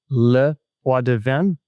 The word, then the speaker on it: LePoidevin: Today, I'm joined by Sylvia Leadven.